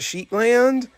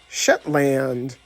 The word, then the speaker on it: Shetland: So we meet again, Agent Sheetland, Jessie said as she began dancing with Smarty. It's pronounced Shetland, Smarty Pants replied.